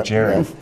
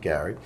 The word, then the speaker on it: Gerry: bastardized it to be Jerry. Yeah. And so, and that's true because Gary Studs, the congressman from Massachusetts, was a descendant of that governor, and it's spelled Jerry, but he was pronounced it Gary.